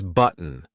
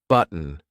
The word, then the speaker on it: button: often use the gladle stop here so it's button button you know just try and mimic this that's